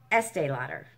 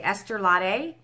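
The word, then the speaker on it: Estée Lauder: okay este a lotter you heard me say it right i know you did i didn't say estee lauder it's estee lauder that's her name right estee lauder what do what do i usually say esther latte or something anyways 25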